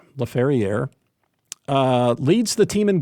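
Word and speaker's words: Laferriere: on the ice right-wing Alex lefer or lafier he probably pronounces it lafier uh leads the team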